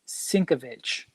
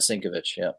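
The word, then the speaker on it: Sienkiewicz: so apparently triple CS collectible says that it's pronounced syncovich I've been saying it wrong the whole time that's what I said sink of it ship yeah I've been saying I suck I don't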